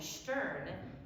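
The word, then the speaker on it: שטערן: Now, when you see words that look like Wiln and Stern in Yiddish, it's actually a 2-syllable word.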